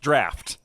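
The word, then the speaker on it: Draught: is the Quicksilver Dro which is Dro uh that's a ght it's pronounced draft I'm not messing with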